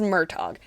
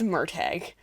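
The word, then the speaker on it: Murtagh: the next few months I've also been saying it wrong this entire time I always thought I say it as murtog it's murtag there hasn't been an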